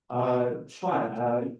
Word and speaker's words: Chuan: Chuan is a Chinese name, so it's the same pronunciation like the president Trump.